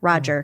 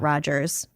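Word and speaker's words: Rodger: Roger, not Rogers.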